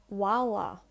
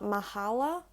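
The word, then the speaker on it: mhála: after the first letter you don't pronounce it like just adding in the sound of a h so for example mala and then add the h after the first letter walla so it's not mahala it's wawa i'm going to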